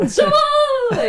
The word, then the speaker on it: Jammal: Razane It's Jammal. Razane so there's no- Jammal. That's what it sounds like.